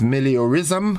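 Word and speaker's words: meliorism: it's a nam in word that word is malism malism uh and it is spelled m e l i o r ismism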